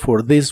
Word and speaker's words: this: Y usaremos la frase " This weekend", que significa para este fin de semana. La th de th this suena como una d vibrante this.